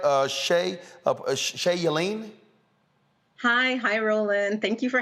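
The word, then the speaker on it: Shea Yeleen: Shay Yellen? Hi, Roland. Thank you for having me. Yes, it's Shay Yellen. You're pronouncing it correctly.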